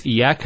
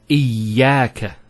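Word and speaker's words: إياك: Iyaka. Notice the ya gets a double vowel because of the Shaddah there.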